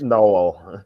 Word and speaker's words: Noel: Am I pronouncing his name right? It's Noel.